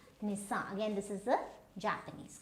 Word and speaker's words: Nissan: So this is not Nissan, this is Nissan.